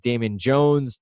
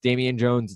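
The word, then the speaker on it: Damion Jones: go to the center spot with someone like Damon Jones Damian Jones it's pronounced it correctly there's a lot here and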